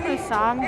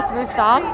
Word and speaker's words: Musang: Musang down in Beacon Hill. What is it again? Musang. Musang. How do you spell that?